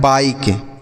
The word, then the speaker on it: bike: जैसे देखिए BIKE, तो इसे क्या पढ़ते हैं? बाइक। क्या पढ़ते हैं? बाइक पढ़ते हैं, ना कि इसे हम पढ़ें BK, ऐसा कुछ नहीं पढ़